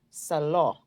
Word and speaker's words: salon: Notice the vowel O in salon say O, salon, salon.